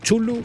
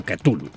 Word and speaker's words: Cthulhu: Bueno, ya sabéis la coña de este nombre y que los humanos no podemos pronunciarlo correctamente, bla bla bla bla bla. Así que pronunciarlo vosotros de la forma en la que lo soláis invocar. Yo lo llamo Chulu o Cthulhu. También mencionar que el título posee dos finales.